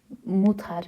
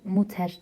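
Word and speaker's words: Mutter: gereken şey ne oluyor Tabii ki de sesli harf e'den r'den önce bir sesli harf olmuş a e şeklinde okunuyor Muta mutar muter değil Muta şeklinde dinliyoruz Muta sonraki harfimiz n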